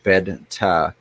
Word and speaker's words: betta: neither is correct actually when it comes to saying betta it's pronounced bed and taw is the closest we can get to in English there you go from